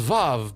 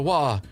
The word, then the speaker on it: Vav: Zayn, Teth, Heichi, and Wa, which I think is pronounced Vav, but we don't have the V sound in certain languages, so we just call it a Wa.